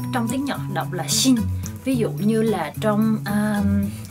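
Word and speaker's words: 心: Thì đó là chữ tâm, khi mà ghép với những chữ khác thì nó sẽ làm âm on, đọc là shin.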